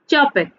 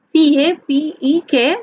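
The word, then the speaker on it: Čapek: Here the name is written as Carol Chapek, means here is the spelling is C-A-P-E-K, means Capek, but it is pronounced as Chapek.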